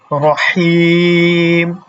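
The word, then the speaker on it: رَحِيم: ঠিক আছে কি হবে রহম আর রহমান এখানে একটা টান রহিম এখানে একটা টান তাহলে আবু তাহের ভাই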